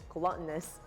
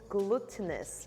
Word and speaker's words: glutinous: course we got our glutinous glutinous gluttonous glu how do you say that glutinous yes rice flour that is